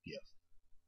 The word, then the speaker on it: GIF: to make an animated gif and it is GIF by the way it's not GIF GIF is peanut butter it's spelled with a J GIF with a G is GIF like gift or give but anyway I'm going